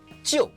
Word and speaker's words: jiu: It sounds very similar to the English word Joe. So, jiu, Joe, jiu, Joe.